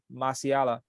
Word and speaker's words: Malacia: was a point where Malacia, the left back. Malacia. Stop saying it. I can't say his name now. The left back. Malaysia, nigga. I know it's not Malaysia. Malacia.